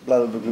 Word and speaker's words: Blauburgunder: You're going to have to pronounce this. Merlot and Blauburgunder. Blauburgunder.